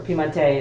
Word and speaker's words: Piemonte: anybody's house in Piedmont, or Piemonte as Italians would pronounce it, and you're invited to